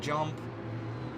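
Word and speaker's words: Djump: see another spin by Jump. D-Jump. Yeah. Is it Jump, or do you say the D? He says it. He says with a silent D.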